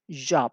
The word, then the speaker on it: job: ya Cómo se pronuncia ojo atención a la pronunciación Job como Jacket nosotros no decimos nunca jaque nosotros decimos Jacket Entonces eso nos sirve para relacionar y así aprende uno más fácilmente entonces Ah eso es como Jacket y Jack y Jacket